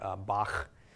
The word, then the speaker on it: Bach: you'll hear it in German like the composer Bach okay is properly pronounced that way some Hebrew words Konica also